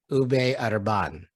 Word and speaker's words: Ube Urban: I can't I can't roll my R. If I say my name the way it should be pronounced, people have a hard time resonating that. Ube Urban.